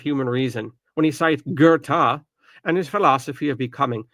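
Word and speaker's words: Goethe: So, this is Gerta. I don't know where the R is coming from.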